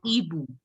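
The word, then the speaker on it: hibou: H is silent. So we don't pronounce the H. We pronounce it as Ibu.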